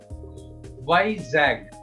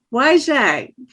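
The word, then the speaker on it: Vizag: i z a g and how do you pronounce it why zag why zag okay but I have trouble with German too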